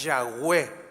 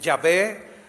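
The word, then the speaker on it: Yahweh: el nombre de Dios el más acercado dicen los eruditos es yahwe yahwe verdad Pero bueno este así para poderse pronunciar algunos dicen yahvé otros dicen Jehová pero es nada más añadirle unas vocales para que tenga pronunciación pero lo que él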